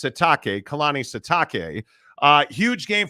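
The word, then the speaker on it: Sitake: for both colan satake or excuse me satake right he wants it pronounced satake Kanani satake uh huge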